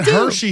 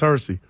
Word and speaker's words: Hersey: that's kind of said Hershey Hawkins or earlier and you didn't get me I got mad it's Hersey he was in Philly